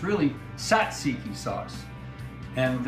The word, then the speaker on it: tzatziki: it but it's really Satsuki sauce and right way to pronounce it is Satsuki the Greeks pronounce it a little different Sat cheeky like cheeky but I call it